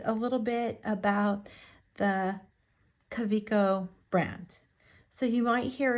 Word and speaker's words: Kaweco: little bit about the Cavo brand so you might hear it pronounce coo coo caveo um Cavo like all kinds of stuff it is a German name and so it is